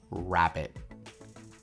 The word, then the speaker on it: rabbit: When I pronounce rabbit, it comes from the back of my mouth.